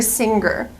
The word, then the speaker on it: singer: pronounce the word singer I cannot pronounce the G sound the hard G in this word I have to use a nasal sound singer singer not singer but singer example she's a good